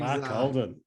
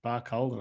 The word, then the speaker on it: Barcaldine: He's, Barcaldine. That's how you pronounce it. I've never known that. Barcaldine.